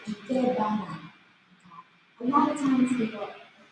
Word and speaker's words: Ikebana: And again, the pronunciation, it's Ikebana. A lot of times people excessively put the accent on ba. Ikebana. Japanese language, it's rather flat, no accent.